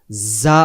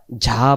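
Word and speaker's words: ز: এই অক্ষরটার নাম হবে জা অক্ষর। কেউ আমরা ঝা পড়ছিলাম, কেউ যাই পড়ি, হ্যাঁ, কেউ অনেক রকম ভাবে পড়ি, কিন্তু এই অক্ষরটা মাখরাজ যেভাবে উচ্চারণটা ঠিক সেভাবেই হবে, যেমন এই অক্ষরের সাথে আর অন্য কোনো অক্ষরের মিল না হয়।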